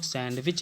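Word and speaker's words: sandwich: था इसमें डिप है दीदी को साइलेंट कर देंगे डी को नहीं पढ़ेंगे सैंडविच नहीं होगा सैंडविच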